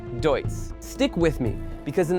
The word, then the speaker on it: Deutz: planet under one name most people can't even pronounce: Deutz.